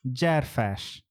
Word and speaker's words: Gyarfas: try do you want me to try yes graph fash yeah yeah jared fash yes good good okay okay i'm getting better